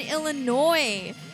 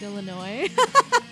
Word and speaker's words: Illinois: I used to say the S in Illinois. We all did in Alabama. It wasn't until I left Bama that I learned you don't say it.